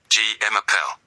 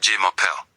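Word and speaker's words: je m'appelle: J Mappel, not J Mel. It's Zel.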